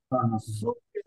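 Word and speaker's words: zucchero: ছয় এর মত হবে সেরকম সুকের এটা কিন্তু সুকেরো হবে এটা জুকের হবে না এটা ইটালি ইটালিয়ান ভাষায় সবাই ভুল করে ইটালিয়ানরা ভুল করে ইটালিয়ানরা দেখবেন বলবে সুকেরো মানে তারাও এটা সুকেরো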